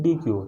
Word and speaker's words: deque: तो double ended क्यू is also called D Q, pronunciation उसका डेक भी है, या DEQUE भी है, या DEQUE भी है, ठीक है।